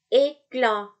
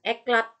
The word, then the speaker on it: éclat: Oke, contoh éclat bukan eklat tapi éclat bukan eklat, T-nya nggak dibaca, éclat, ya kan sama tuh di akhir. Oke, éclat.